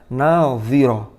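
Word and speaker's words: ناظرة: Wujuhu yawma idzin nadhirah ila rabbiha nadhirah. Ini jangan kebalik. Yang pertama menggunakan dhad, yang kedua menggunakan dha.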